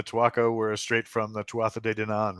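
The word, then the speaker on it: Tuatha Dé Danann: were straight from the tuata de Dinan right pretty close yes did I say that correctly I think too often to Donna is the way it's usually pronounced I was I was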